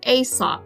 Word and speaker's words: Aesop: was a man named asop you just pronounced that like a and sop asop was a greek